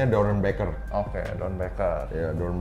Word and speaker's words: Doernbecher: Yang pertama gue pengen nanya, orang ngomongnya suka salah, Don Baker apa Don Becher sih? Sebenarnya sih kayak nama ya mungkin pelafalan rada beda-beda ya. Cuma gue sih menyebutnya Doron Baker.